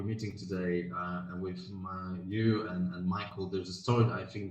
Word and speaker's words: Mychael: pronounce it really oh no no you you pronounce it regular like is it this m-i-c-h-a-e-l is michael yeah yeah it's just it's just